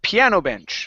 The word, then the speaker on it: piano bench: All right, let's go to piano bench. So here, just like peanut butter, we're going to stress the first word.